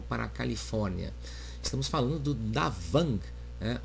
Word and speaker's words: Da Vàng: Califórnia estamos falando do d vang né ou pronunciando né na língua vietnamita Zang ou Y avang Depende se você está no norte do Vietnã ou no sul do Vietnã o Zang ou yavan